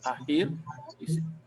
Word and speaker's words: akhir: Saya akan menduduki peperiksaan akhir. Akhir, not akhir. The K is like silent K.